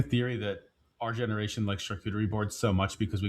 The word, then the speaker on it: charcuterie: Charcuterie. Is it charcuterie? Charcuterie. Charcuterie. Charcuterie is correct. Okay. It's a French French word, not shark cuttery, nor shark charcuterie. Not sharkoochi, which is what we call it.